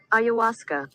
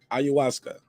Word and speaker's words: ayahuasca: do you guys think about him taking the iu now i messed it up again how you say it say it again ayahuasca ayahuasca how do you guys feel about that uh